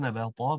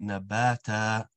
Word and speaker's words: نباتا: Not nabata, but nabata. Complete happy sound.